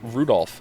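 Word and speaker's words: Rudolf: It's just Anyway, this guy's name is pronounced Rudolph.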